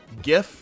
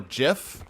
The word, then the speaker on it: GIF: Guys, GIF or GIF is pronounced like the G in garage.